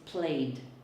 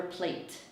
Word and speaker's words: played: Now the verb play in the past is played. It's never plate, because plate is a plate.